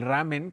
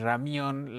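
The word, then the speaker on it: 라면: Pero ya después del ramen que ahorita nos decía ayeli que es Ramión, la la eh la pues sí, la pronunciación correcta, pues sí, o sea, creo que para mí fue ese ese primer momento.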